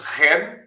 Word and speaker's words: Shen: meu nome é escreve-se Shen mas pronuncia-se ren como a empresa pública ren ah V lá que